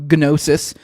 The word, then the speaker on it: gnosis: Uh the G is silent, but I don't know. I always like to be a goofball. Gnosis.